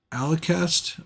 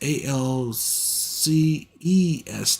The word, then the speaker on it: Alcest: I do know the one on the list is definitely uh, Alicest, I think is how you say it. Black Gaze. It's Alcest, like crest.